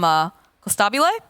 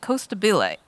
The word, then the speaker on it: Costabile: people asking about this, in the past we used to call him Costabile. We found out recently in a couple of the interviews it's Coastability. So Purge and I have occasionally butchered it because we're trying to get in the habit of calling him by the way that he wants it pronounced.